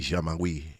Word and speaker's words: Jean-Marie: Stephen Jean-Marie. Is that how you say it? Oui, Jean-Marie.